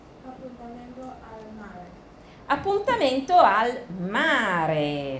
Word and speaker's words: appuntamento: 们上一次的传单哈。Appuntamento al mare，跟你们的 shadowing 一样的，我再强调一下你们的发音，appuntamento 这个字。